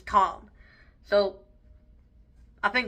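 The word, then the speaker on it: Thom: t h o m kind of looks like Tom but I believe it's pronounced as Tom so I think it's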